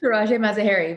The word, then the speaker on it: Tirajeh Mazaheri: Tirajeh Mazaheri. Did I pronounce that right? Tirajeh Mazaheri.